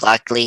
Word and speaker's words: Lockley: his name luckily jake blackley we see jake lockley he does his hitman thing he shoots arthur